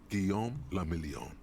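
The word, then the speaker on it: Guillaume Le Million: meant only one thing guillaume lamillion if it doesn't rhyme you're not pronouncing it right okay out of the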